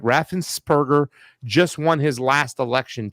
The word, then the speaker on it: Raffensperger: craziness going on uh and by the way raffensburg i want to say his name right raffensperger just won his last election too as well